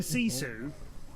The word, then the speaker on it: sisu: of person to go why is he calling this sisu it's and he's in chat you know he's got his gifu like gifu no I don't know how you think that is proposed because you're typing this okay but maybe since I'm the person doing this job and I know them players and the team if I'm saying sisu I probably didn't make that out of thin air I probably didn't look